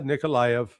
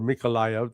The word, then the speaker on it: Mykolaiv: So Odessa, Nikolaev, or Mykolaiv, depending, there's a Ukrainian pronunciation and a Russian pronunciation.